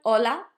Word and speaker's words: hola: You don't say ha, do you? You know, everyone knows this word. Everyone knows how to say hola. We say hola. We don't say ha. This makes it hard for you to spell stuff correctly because you don't it doesn't have a sound.